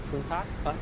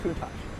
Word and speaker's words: Countach: I needed to be coached on how to pronounce Lamborghini. It's Countach? Countach.